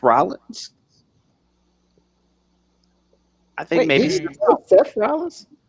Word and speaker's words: Rollins: Seth Rollins. Seth. SEFF. Rollins. RAWLINS.